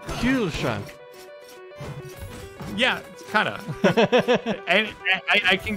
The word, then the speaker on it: Kühlschrank: Kühlschrank.